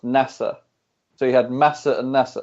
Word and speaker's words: Nasr: basically I mean and in Brazil Nasser's pronounced nessa so he had masa